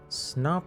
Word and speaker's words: Snop: Snop is like a cricket snappy.